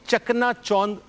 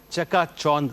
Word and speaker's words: چکا چوند: ایک تو یہ کہ یہ چکنا چوند کوئی لفظ نہیں ہے، چکا چوند لفظ ہے، ٹھیک ہے نا۔ دوسرا،